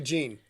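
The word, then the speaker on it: Tajín: here we go to Gene yeah which rhymes with the gene but that's completely beside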